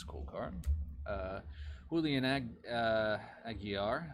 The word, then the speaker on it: Aguiar: Julian Aguiar. I mispronounced it last time too. I keep adding an L to it.